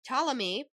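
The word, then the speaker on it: Ptolemy: celebrate the coronation of Talamy. Sorry, there's a P there and I keep wanting to say it, but it's just the P is silent.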